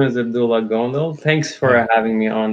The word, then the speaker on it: Abdullah Gondal: you say it uh yeah my name is Abdullah gondo thanks for having me on the show it's